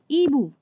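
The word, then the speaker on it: hibou: एक चीज़ ध्यान रखिए, फ्रेंच में एच जो होता है वो साइलेंट होता है, तो हम इसको जब बोलेंगे इस शब्द को तो आई से प्रोनाउंस करना शुरू करेंगे। तो क्योंकि आई को ई कहा जाता है तो इसका प्रोनाउंसिएशन यानी कि उच्चारण क्या होगा?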